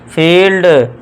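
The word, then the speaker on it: field: जब किसी शब्द में आई ई आए तो आई ई को आपको लॉन्ग ई से साउंड देना है। लॉन्ग ई जैसे कि एग्जांपल देखिए आई ई आ गया तो इसे पढ़ेंगे हम लॉन्ग ई से तो इसे पढ़ेंगे फ इल ड फील्ड न ई से निश ठीक है दोस्तों फील्ड नीश आपको बड़ी ई की साउंड देनी है।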